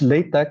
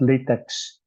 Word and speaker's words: LaTeX: a t x okay it's pronounced as late deck and not latex all right so class